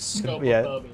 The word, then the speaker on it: scopophobia: movie, and that is scopophobia.